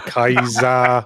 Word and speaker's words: Caesar: Have you heard that thing that uh apparently we're all pronouncing Caesar wrong? It's supposed to be something more like uh Kir, excuse me, say it again. O'keezer. Oh, Kizer. Oh, he's all right. Kezer. He's all right. Back, mate. Or Kaiser. Or Kaisy. They say it should should maybe be a hard C and the S should maybe be pronounced more like a zed.